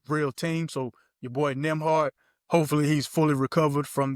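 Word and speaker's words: Nembhard: because is Nimhard even on the Pacers? Then am I saying that wrong? Yeah, you saying it right. So it's He's on it. Nimhard.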